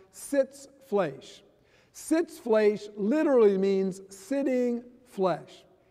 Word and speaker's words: Sitzfleisch: The German word is pronounced Sitzfleisch.